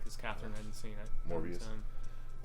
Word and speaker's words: Morbius: I was just rewatching that crappy Morpheus movie last night because Catherine hadn't seen it. Morbius. Morbius. It's yeah. Morbius.